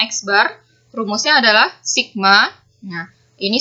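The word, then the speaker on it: x̄: Ini X dengan tanda garis di atasnya, dibacanya X bar.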